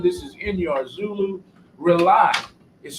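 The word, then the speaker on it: RAULI: that's their son this is in your Zulu rely is spelled r-a-u-l-i it stands for rebooting and uniting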